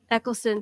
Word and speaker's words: Eccleston: be goofy yeah uh christopher um eccleston eccleston thank you keep getting the syllables in the wrong place um just absolutely he's